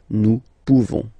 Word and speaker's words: pouvons: You don't pronounce the final S. Nous pouvons.